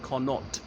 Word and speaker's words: Connaught Place: They often pronounce it Connaught, place, as in the Irish province, but it was named in honour of the Duke of Connacht, one of Queen Victoria's younger sons.